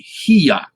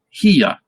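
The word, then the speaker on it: היא: So this word, and this is a Y sound, the middle letter here, the yod. So it would be hiya, hiya. And that's how you would say she in Hebrew.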